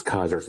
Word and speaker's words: Caesar's: They have a faction called Caesar's Legion, but they pronounce it as Kaiser's Legion.